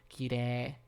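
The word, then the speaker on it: きれい: It can be tricky, though, a long o could be ou and oo as well as the e+i combination is often pronounced as ee, such as in kirei.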